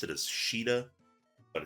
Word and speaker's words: Caeda: you pronounce it as Shiida, but it's spelled E I E D A. For the longest time I will call her Caeda. Um but I'm pretty sure Shiida is the right pronunciation.